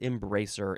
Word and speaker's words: embracer: think this is French e m b r a c e o r so we didn't just add an R to embrace we added an o r but still pronounced embracer at least here in America